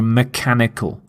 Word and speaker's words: mechanical: order to do a particular task note the pronunciation of the CH is the C sound so mechanical mechanical not not mechanical some example sentences it